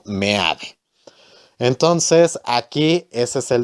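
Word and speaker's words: Meade: antonio mena o sea no digo mitad porque realmente se debe de pronunciar como me hace entonces aquí ese es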